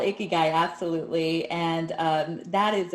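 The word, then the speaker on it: ikigai: i'm proud of you you did pronounce it right it's called icky guy absolutely and um that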